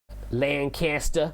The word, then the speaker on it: Lancaster: It's pronounced like the British dynasty. Lancaster.